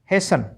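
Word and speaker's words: hasten: T silent रखना है। तो एच एस टी ई एन हेसन एल आई एस टी N Liston नहीं लिसन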